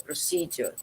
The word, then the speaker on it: procedure: Sekarang kan gampang, tinggal nulis di smartphone Ibu, cek pronunciation-nya kan muncul ya, procedure, gitu kan? Ditirukan berkali-kali. Oh, tekanannya di suku kedua, procedure, seperti itu.